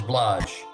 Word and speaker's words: Blaž: Well, my grandfather was known as Blaž, but the spelling was B-L-A-Z.